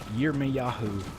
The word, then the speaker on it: Yirmeyahu: So, but my actual @ name is @YirmeYahu, YirmeYahu. It's the Hebrew spelling and pronunciation of Jeremiah.